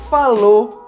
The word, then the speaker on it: falou: Nesse caso, na maioria das vezes, nós simplesmente não pronunciamos o som da letra U. Portanto, nós falamos chegou, falou e tentou.